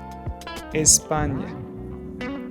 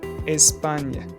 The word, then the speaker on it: Espagne: This is usually pronounced like the ni in onion. Ni, ni. It's like NY blended into one sound. For example, champagne, Espagne.